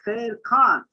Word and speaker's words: Sher Khan: talk about Indian Urdu, Professor Sherkan's Indian name in Indian Urdu will be pronounced as Professor Sher Khan. Sher Khan, Sher means the lion, and Khan means somebody who is of very noble origin. So Professor Sher Khan, I will pronounce him as per Indian pronunciation.